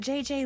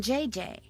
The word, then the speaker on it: Gigi: En français, you pronounce the G like J and the J like G. She may very well be JJ in America, but in France, she is Gigi.